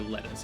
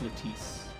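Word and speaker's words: Letice: How would you pronounce her name? Cuz I don't want to call her lettuce. I'm assuming it's Latise. L E T I C E. I'm going to assume it's Latise.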